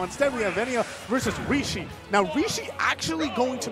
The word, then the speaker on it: Rishi: I was pronouncing his name wrong. It's actually Rishi. Yeah, Rishi.